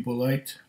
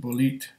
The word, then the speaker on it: Bulleit: If you have a bit of a German-speaking heritage like I do, it would be Bulleit. In French, I think they would pronounce it Bulleit.